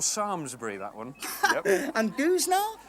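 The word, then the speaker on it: Samlesbury: is actually extant so that's that's how you pronounce that what about sandler's breathing sammelsbury oh there's an airport there it's actually called sarmsbury that one and gus now goose now they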